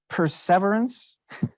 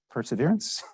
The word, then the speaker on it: perseverance: Verity Temperance stableness bounty it's I believe supposed to be pronounced perseverance we know it as perseverance Mercy lowliness devotion patience